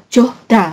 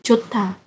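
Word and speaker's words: 좋다: Ini juga bacanya bukan johda gitu kan. Ini kan da. Ini joh, bukan johda gitu kan. Nah, ini tapi ini dia melebur ke sini jadi jota.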